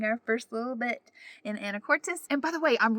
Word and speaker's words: Anacortes: I heard a local say the name of the city recently, I think, and I think it's Anacortes instead of Anacortes. So I really am sorry